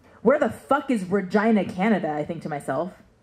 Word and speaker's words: Regina: see one available for Regina Canada and yes it is pronounced like the body part where the is Regina Canada I think to